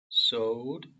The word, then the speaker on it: sewed: So they sewed. 여기는 이가 있어도 오 발음에 더 가까워요.